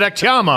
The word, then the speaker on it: Akhtyamov: I asked the fucking guy, and he said Akhtyamov.